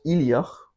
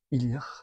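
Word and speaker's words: Ìleach: Spricht man aus Illyach. Ilja.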